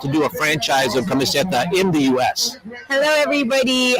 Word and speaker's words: Kamiseta: does she want to do a franchise of camiseta in the us hello everybody um i'm murray